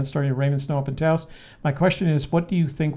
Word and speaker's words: Taos: Taos. Rhymes with house and mouse and spouse.